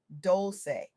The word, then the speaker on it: Dolce: I'm Dolce, pronounced Dolce, like sweet softness whispered in French.